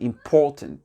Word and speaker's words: important: Important. Important, et pas un, non, IM, ici il est prononcé entièrement, important to me, d'accord, or important for me.